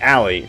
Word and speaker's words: Ali: in the Discord is it's it is Ali right like that's how you that's how you wanted to say it and pronounce it like that's the appropriate pronunciation of your name right I wish I hate